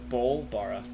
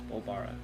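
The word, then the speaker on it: Bol'bari: Bolbara. Yes. Bolbara.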